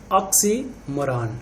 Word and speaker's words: oxymoron: And next हमारा है fifth one, ऑक्सीमोरॉन। थोड़ा प्रोनाउंसिएशन पे भी ध्यान देंगे, ऑक्सीमोरॉन।